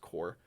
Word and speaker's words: corps: I was like, ooh, what if it wasn't like a military course or corpse or corps, because it's really just pronounced core.